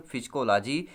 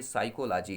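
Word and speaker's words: psychology: पी यहाँ पे silent होता है, आपने काफ़ी सारे जगह देखा होगा फिजिकोलॉजी लिखे होते, लेकिन ये साइकोलॉजी है। पी यहाँ पर साइलेंट होता है, जो यूनानी ग्रीक भाषा के दो शब्द साइके और लोगोस से मिलने से बना हुआ है।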